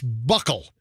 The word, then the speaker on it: buccal: So this is the pronunciation, and I believe it's buckle.